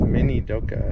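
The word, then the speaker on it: Minidoka: grew here at the internment camp oh it's minoka National Historic Site that's where we are said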